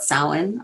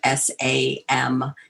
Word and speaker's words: Samhain: traditions so if you see that weird word s-a-m-h-a-i-n or some other interesting gaelic version where it's got a bunch of extra verbs and vowels and syllables attached to it samhain um that holiday asks